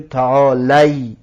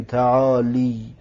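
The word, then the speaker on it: تعالي: آخرش فتحه دارد، کسره نیست، آخرش کسره نیست. پس تعالی این فتحه به حال خودش باقی میماند و یا را میگذاریم، پس میگویم تعالی، نمیگیم تعالی.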